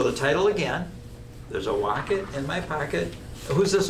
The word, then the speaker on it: wocket: Seuss and it's called there's a wocket in my pocket and what does walk it rhyme with there's a pocket this is a pocket